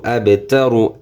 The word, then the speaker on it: أبتر: হু ওয়ালাম জবর ওয়াল, হুয়াল, হুয়াল, হামজা বা জবর আবে, আবে, তা জবর তা, র পেশ রু, আবে তারু, আবে তারু, অকফ করলে আবে তারু। এই যে প্রথমটার মতো উচ্চারণ করলে আবেতার, অকফ মানে অকফ করলে আবেতার,